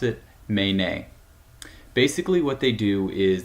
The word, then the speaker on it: Menē: The name of the company, as you can see, is spelled M-E-N-E, but we pronounce it Menē.